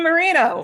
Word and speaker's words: Moreno: Is it Moreno or Moreno? Moreno. Because Kermit pronounced a different Moreno. Yeah, Moreno would be the and I was like, the Spanish pronunciation. So, would be Moreno. so Kermit was correct, is what you're saying.